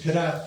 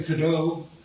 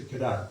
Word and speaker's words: Cadotte: when he started he was probably kadau but uh when the British took over Canada they changed it to kadat they just said oh it's got a t on the end must be pronounced kadat and then his children